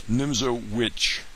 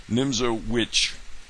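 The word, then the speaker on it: Nimzowitsch: Nimzo Witch, uh, with a W, although the W is pronounced as a V.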